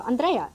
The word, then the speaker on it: Andrea: I go by the accent on the first syllable.